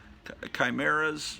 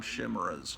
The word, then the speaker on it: chimera: uh there's another name chimeras I used to call them shimmers because I didn't know how but I think it's pronounced Chimera half man half animal